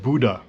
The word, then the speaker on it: Bodø: That's the next plane arrive, but apparently the destination is pronounced Buddha.